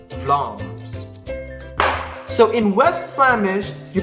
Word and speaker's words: Vlaams: So as you can see, the word Vlaams has two A's. So and you pronounce those A's one sound but long. So Vlaams, not Vlaams, but Vlaams.